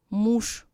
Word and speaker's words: муж: Ж is pronounced as Sh, муж, еж.